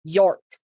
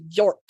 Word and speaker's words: York: And also, you don't need to elongate that O. It Yorkshire. Kind of like you wouldn't elongate the O in like your.